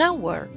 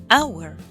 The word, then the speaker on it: hour: But we say he is coming in an hour. An plus hour. The H is silent.